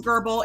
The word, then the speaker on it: Goebel: struggling a bit so William gerbal is spelled g OE b l it's a and because it's a German name I am saying gerbal because I believe that is